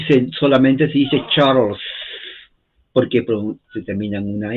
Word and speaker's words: Charles: se escribe Charles pero recuerden la e en inglés no se pronuncia se omite y se solamente se dice Charles porque se termina en